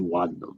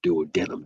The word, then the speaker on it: duodenum: It has the fundus and the body and the duodenum or duodenum, depending on how you want to pronounce that.